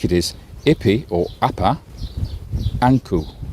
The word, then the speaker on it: Ankh: And we think it is Ipi or Appa, Anku. That is how Ankh is pronounced in ancient Egyptian.